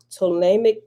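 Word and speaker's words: Ptolemaic: text literature that c 3000 bce through the ptolemic period p t o l e m a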